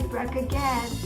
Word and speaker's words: Bracha Goetz: Pronounce that for me? That's right, Bracha Goetz.